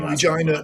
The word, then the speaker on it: Regina: You mean Regina, the town that sounds like fun? It rhymes with fun.